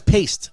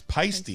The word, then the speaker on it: Paiste: i was always wondering how do you pronounce p p-a-i-s-t-e you know everybody thought it was paste yeah it's pasty yeah it's all right